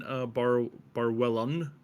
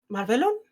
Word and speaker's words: Marvelon: And then Barwellon as well. I can never say that name correctly. Madqueen, how do you pronounce that again? Marvelon? Yes, that one.